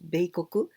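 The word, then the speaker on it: 米国: Pero cuando escribimos japoneses con letra de arroz, masculino, beikoku, pronunciamos beikoku, eso significa Estados Unidos.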